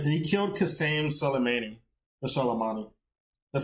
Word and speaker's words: Qasem Soleimani: Or Soleimani. That's how you pronounce Soleimani.